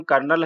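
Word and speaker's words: colonel: एन ओ एन एंड यह कहीं भी मैच नहीं होता है इसका पॉइंट से सन् फिर भी इसका नाम कर्नल है और यह भी सेना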